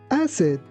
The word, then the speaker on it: acid: Here, be careful that letter C sounds like S. That's why we say acid.